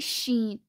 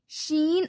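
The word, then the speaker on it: شين: It is pronounced when the center of the tongue touches the upper palate.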